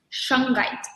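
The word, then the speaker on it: shungite: a crystal called it are you doing open pronouncing this right or wrong but it's Shung right x hu n g ite and it's actually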